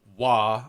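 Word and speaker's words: Waaagh!: So Wa, which is Wa, spelled with usually a minimum of 3 A's and a GH. Yeah. And one exclamation point minimum is it's a battle cry.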